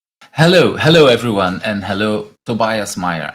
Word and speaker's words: Tobias Mayer: hello everyone and hello Tobias Meer actually is that how I should pronounce it Tobias or good enough yes yes that works yeah thank you people